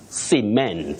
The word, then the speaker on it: cement: Whether this word functions as a verb or a noun, you say cement.